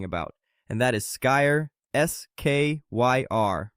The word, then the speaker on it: Skyr: Greek yogurt's close cousin that almost nobody is talking about, and that is Sky, Skyr, pronounced skier.